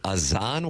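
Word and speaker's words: Azaan: Doug, do you pronounce it Azan White? Let's go with that, yo. A-Z-A-A-N? Sounds like Azan to me.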